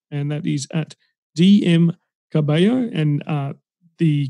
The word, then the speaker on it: Carballo: that is at dm cabello and uh the cabello in there is the spanish way of pronouncing it because i am barely